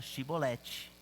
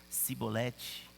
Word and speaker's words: Shibolete: Se respondesse que não, diziam: então diga Shibolete. Se ele dissesse Sibolete, sem conseguir pronunciar corretamente a palavra, prendiam-no e o matavam no lugar de passagem do Jordão.